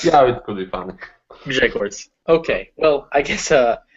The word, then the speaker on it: Grzegorz: the first letters is hard G. G. Later it is Ż. Later there's no E, is like in Spanish, I think. E, not E, E. Later G, another hard G. Later not O, it's like O. So there's a short sound, and later Ż.